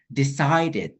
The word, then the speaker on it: decided: Kalau misalnya ED di sini, dia tetap dibaca Kak Ikhwan. Jadi, decided. Gitu. Decided.